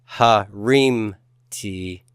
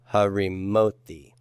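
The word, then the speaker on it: הֲרִימוֹתִי: So it's not harimti, but I get an extra syllable with the vowel. Harimoti. Harimoti. Yes, the accent has moved to this new syllable, and that left what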